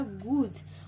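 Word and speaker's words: goose: Okay, मतलब ये जो डबल ओ यहाँ पे है इस स्पेलिंग में, गूज के स्पेलिंग में ये इसको जोर दे के मैंने ये बोला, जैसे कि गूज। ओके, तो लॉन्ग साउंड हो रहा है, जोर दे के बोलना पड़ रहा है, मतलब लॉन्ग साउंड हो रहा है।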